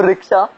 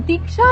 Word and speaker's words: दीक्षा: तो रिक्शा, तुम यहाँ आई क्यों? एक मिनट, तुम मुझे रिक्शा क्यों बुलाते हो? मेरा नाम दीक्षा है।